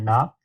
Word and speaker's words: Knop: mispronounced your name uh is it mr knop yes it is ken off five full